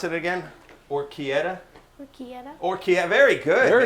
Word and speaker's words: orecchiette: I have to get my, how we pronounce it again? Orecchiette? Orecchiette.